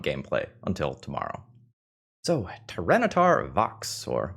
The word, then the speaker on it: Vox: So, Tyrannitar Vox or maybe Tyranitar Wokes if we're using Latin pronunciation because trivia of the day. Wokes is the Latin word that means voice.